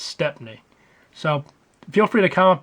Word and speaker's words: Stepney: But when you look at it and you read it and you think about it, it's Stepney.